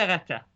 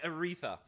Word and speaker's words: Aretha: I said it the American way, Aretha. La Voix d'Aretha. You don't generally in French pronounce TH as a th sound, it's more just the T sound.